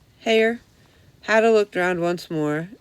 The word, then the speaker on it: Hare: It rhymes with mayor, so then I remembered Hare.